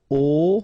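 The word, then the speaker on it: aux: at all and then a plus Le will become o AIX but then remember that phonetically it's O Okay so that's the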